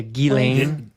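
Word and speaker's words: Ghislaine: delain Maxwell who's the Jeffrey Epstein oh yeah gilain yeah gain Maxwell but it really makes me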